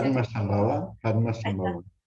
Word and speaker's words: Padmasambhava: En el 98 editó Las enseñanzas de Padma, bueno, me lo vas a decir tú, ¿cómo se pronuncia esto? Ahí está, Padmasambhava. Padmasambhava, y el budismo tibetano en el 98, y